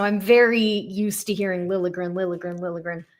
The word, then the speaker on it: Liljegren: Now it's Lil Chagrin. Okay. So that L and J kind of get merged a little bit.